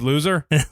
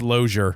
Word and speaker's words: Lozier: Oh, it's Loser? No, it's Lozier.